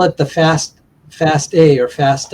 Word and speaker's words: FASTA: Uh we call it the fast fast a or fast. I use the word faster. I think the proper pronunciations fast a faster format.